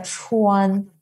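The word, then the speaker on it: 川: Que nos ayuda a riegar la tierra y ahí se pronuncia Chuan, Sichuan es el gran río.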